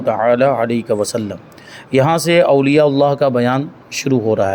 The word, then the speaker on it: اولیاء اللہ: ہے، چل جائے گا، لیکن صحیح جو تلفظ ہے وہ کیا ہے؟ اولیاء اللہ، اللہ کے ولی۔ تو وہی اللہ کے